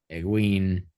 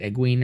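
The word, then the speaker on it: Egwene: whether Eve you know Egen is it uen or egua I they call her uen in the show and on the audio books yeah I always pronounce uen in my head so you know whether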